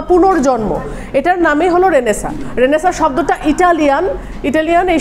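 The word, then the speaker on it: Renaissance: ছাত্র যেকোনো চাকরিতে গেছেন আপনাকে জিজ্ঞেস করতে পারে রেনেসা বানান করেন for example R ই এন I double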